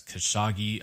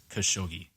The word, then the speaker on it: Khashoggi: His name is Jamal Khashoggi. In the last episode, I pronounced it as Khashoggi. I apologize for pronouncing it wrong. The correct pronunciation is Khashoggi.